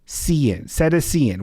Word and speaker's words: cetacean: Samantha, who's an educator, thank you for your service, says it's pronounced Cetacean.